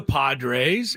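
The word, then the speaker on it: Podres: his career with the Padres's in 1969. And his last name was Padres. That is crazy. Johnny Padres. It's spelled differently. P O D R E S for his name, Johnny Padres.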